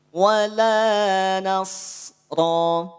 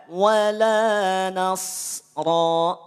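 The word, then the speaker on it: ولا نصرا: tuh Kang cara bacanya Ya sudah panjangkan dua harakat suaranya habiskan wala nasro tidak wala nasro beda ya hati-hati Itu dari sisi pelafalan kenapa jangan demikian jangan diputus karena tidak ada Hamzah beda cerita kalau ada Hamzah di akhirnya Kalau tidak ada Hamzah maka tidak perlu diputus suaranya habis dua harakat ya Waalaikumsalam Bunda Muli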